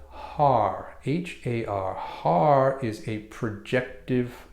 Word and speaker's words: Har: word, and it's called HAR, H-A-R. HAR is a projective force. Projective force. So we'll be saying this, but it will sound like HUD, H-U-D, pronounced HUD, spelled H-A-R, but pronounced HUD.